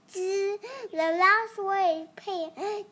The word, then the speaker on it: 隻: Unit for a bird or owl pronounced zi.